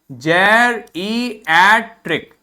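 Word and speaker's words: geriatric: ठीक है, और ये देखो एडजेक्टिव है तो इसका प्रोनाउंसिएशन देखिए, जेरिएट्रिक, जेरिएट्रिक, जेरिएट्रिक।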